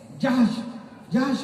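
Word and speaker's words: جحش: Syeda be بی زینب بنت جہش رضی اللہ عنہ، حجش نہیں پڑھیے گا، حجش نہیں، جہش ہے. صحیح تلفظ کیا ہے؟ جہش.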